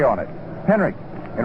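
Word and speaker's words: Henrich: Tommy Henrik. H E N R I C H. It pronounced as though there was a K on it. Henrik in right field.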